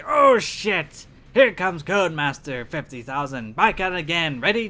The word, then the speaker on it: Codmaster: Because I thought without the letter Y, it just sounds like code. Of course, it sounds like it's supposed to be an E in there, but the E is silent, it doesn't show itself.